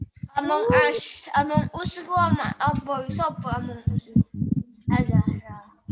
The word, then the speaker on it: Among Us: Among Us ku apa sapa Among Us? Azara. Among Us. Itu bacanya Emang As.